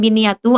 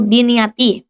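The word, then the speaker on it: بِنِيَّةِ: Jadi dibacanya bukan biniyatu atau biniata, tapi dibacanya itu biniati.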